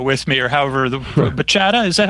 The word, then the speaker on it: bachata: doesn't have a b it's a b but it's pronounced somewhat like a p if if I was